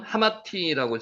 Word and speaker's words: 하맛: 요 이름의 발음은 하마티라고 지금 발음이 납니다.